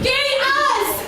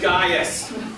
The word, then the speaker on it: Gaius: Hey, look, it's Gay Us! Pronounced Gaius.